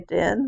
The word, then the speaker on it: Din: it goes crew new, and din, which is supposed to rhyme with queen.